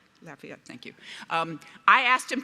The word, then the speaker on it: Lafayette: Did I pronounce that right? Lafayette, thank you.